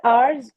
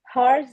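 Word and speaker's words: hours: जब इस कन्वर्सेशन को रीड किया गया था between Kanika and Flipkart support 24 आवर्स होता है। ओके? हवर्स नहीं होता है। एट साइलेंट होता है।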